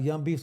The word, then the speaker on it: Young Beavz: My name's uh Young Beef's Comedy. Yu N beefs like a beaver.